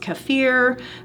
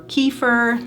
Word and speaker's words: kefir: of it right here kefir which can be pronounced kefir or kefir lots of different pronunciations is a fermented dairy and